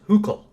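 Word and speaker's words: Hückel: his name is this which it turns out in German is pronounced hook okay so hook and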